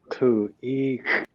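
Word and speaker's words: Khu.éex': Yeah, you pronounce it Khu.éex.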